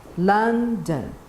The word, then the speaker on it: London: So you have London, red and green, okay? You show the red, lun, the green, You can make anything, a ball, a toy, and you put the symbol schwa.